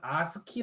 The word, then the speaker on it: ASCII: 알면 아스키 코드 입니다 이걸 아스키 라고 읽어요 ascii a 감아 어